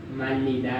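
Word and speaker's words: 말리다: हेर्नुहोस् त, झुन्डिएर आयो, लगतै माथि अर्को र पनि आयो, यता मा छ, के हुन्छ त्यसको उच्चारण? माल्लिदा भयो।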